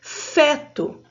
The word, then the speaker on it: feto: o nome científico de feto. Olha a palavra feto. As letras F e E, a sílaba fê, não acentuada, mas com o som aberto.